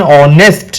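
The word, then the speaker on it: honest: इसीलिए हमने एन ऑनेस्ट मैन। ठीक है? जिसमें एच साइलेंट है।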